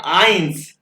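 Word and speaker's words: eins: उसके बाद ये देखो, ये आ गया ई आई इकट्ठा, यानी कि ए ई इकट्ठा, ए ई जर्मन में ए ई कहते हैं, ये आई की आवाज निकलेगा। ये बन गया आई, आई से आइंस, आइंस, आइंस एक, और ये भी ए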